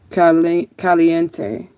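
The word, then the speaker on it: caliente: sh I want to learn Spanish it said K Cente that's how you said it that's how you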